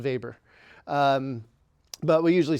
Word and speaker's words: Weber: But um Weber was a German and so that would be pronounced vber.